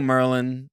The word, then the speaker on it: Maryland: do you say Maryland is it Maryland hold on let me get into it oh damn we're going down to Maryland Maryland some people go Merlin some people say Maryland